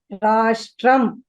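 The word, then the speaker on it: राष्ट्रम्: For the pronunciation of this sh, the tongue should curl backwards, right? That is the distinction between the sh of, say, Shiva and sh of Shanmukha. For Shiva, the tongue touches ahead, whereas for sh, it should curl backwards.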